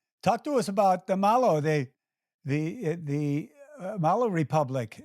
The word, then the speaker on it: Malo: but we made it Malo m a l o because that's how Australians say her name so they pronounce it